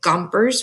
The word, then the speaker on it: Gompers: document is written by Samuel Gompers rhymes with chompers he is the leader